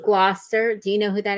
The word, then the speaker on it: Gloucester: I read it said Glowchester artist Nick Engel. It's called Gloucester. I know it's spelled Glowchester, but it's Glouester. Glouster.